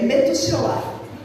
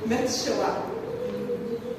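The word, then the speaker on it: מתושלח: É Metushelah. Se pronuncia, a gente ficou treinando o hebraico. Metushelah.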